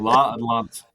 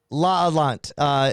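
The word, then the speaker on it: L'Atalante: It'd be like La Atlant. La Atlant. La Adelant. It's spelled Atalante. So I said La Adelante, and Will's giving it a different name.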